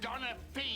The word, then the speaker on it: Donaghy: Both a disgrace to the Donaghy name. It's pronounced Donna Fee, you lace curtain happening.